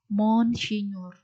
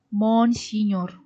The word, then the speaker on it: Monsinyur: Uskup itu disingkat MGR, tapi membacanya Monsinyur.